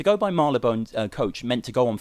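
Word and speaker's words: Marylebone: the Marley Bone coach which is spelled marlabone as in the London train with it yeah is it not not Marley bone on the website it says Marley Bone but I think it's marlabone to go by Marla bone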